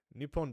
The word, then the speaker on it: Nippon: Nippon desu is the correct way to say Japan, because you are technically saying the Portuguese word for Japan when you say Japan. In the native tongue of Japanese, it is called Nippon.